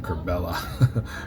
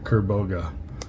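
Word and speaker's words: Kerbogha: I've been calling him Kerbella. Kerboga.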